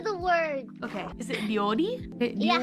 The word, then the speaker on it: 料理: They know Can you pronounce something for me? Okay. Pebbles Give her the word. Okay. Is it ryori? Yeah, how do you say cook in Japanese? Oh, cooking? 今夜は料理しています。料理。 Ryori.